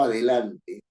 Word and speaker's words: adelante: penúltima sílaba la fuerza yo digo adelante no es cierto Tengo cuatro sílabas a de la y la mayor fuerza de voz está en la penúltima y la No es cierto yo estoy diciendo adelante no adelante estoy diciendo adelante y no adelante y estoy diciendo adelante y no adelante está la fuerza de voz en la penúltima sílaba No yo puedo tener